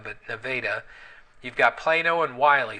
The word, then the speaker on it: Nevada: and Plano and n n Neva it's not pronounced Nevada but nadaa you've got Plano and Wy so there's 80